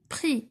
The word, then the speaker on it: prix: Prix, la même chose, le X ici est muet.